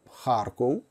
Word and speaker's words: Харків: ми маємо на О я думаю їх треба вимовляти таким чином Харков це не русизм це